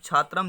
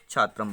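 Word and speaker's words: छात्रम्: तो आपको शिक्षक कर्तव्य है कि आपको जब छात्रम लिखा है और बच्चा छात्र बोल रहा है, तो आपको वहाँ पे बोलना है, शुद्ध उच्चारण करना कि आपको छात्रम लिखा हुआ आप छात्रम बोलिए, बच्चों को बोलना है, ठीक है।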